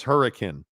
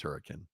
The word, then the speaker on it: Hurricane: are you know uh GF thank you for pronouncing hurricane correctly it's hurricane yeah nobody knows it's hurricane right uh Boyd Lake